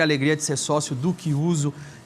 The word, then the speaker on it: Chiuso: Que se escreve Chiuso, mas é Chiuso.